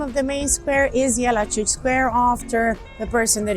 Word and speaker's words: Jelačić: So his surname is pronounced Jelačić, Joseph Jelačić, yeah.